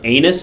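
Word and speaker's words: Ennis: it probably all right anus rhymes with penis that's pretty fun all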